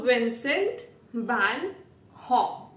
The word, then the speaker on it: Vincent van Gogh: So his pronunciation is Haw. So Vincent van Haw.